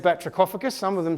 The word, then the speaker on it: batrachophagus: What if I told you this word comes from the Greek language? So what does that tell you about how the CH will be pronounced? It's a K, because in the Greek background words in English, CH represents a K.